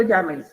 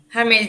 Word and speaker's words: Jamel: Yamel, ¿cómo se pronuncia? ¿Jamel o Yamel? Jamel, doctora.